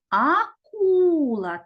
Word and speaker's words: акула: визначимо який склад наголошений погукаємо слово Акула Акула так склад наголос падає на другий склад А тепер діти Зупиніть